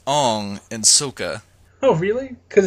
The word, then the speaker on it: Aang: Actually, it's pronounced Ong in Sokka.